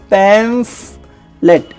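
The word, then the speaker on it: pamphlet: में पंपलेट बोलते हैं, वो पंपलेट गलत प्रोनाउंसिएशन है, PAMPH, पैम्फलेट, इंग्लिश के पेपर में आ सकता है पैम्फलेट।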